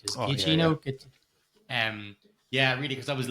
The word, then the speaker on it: Giacchino: And Michael Giacchino, I can never pronounce his name right. Is Giacchino?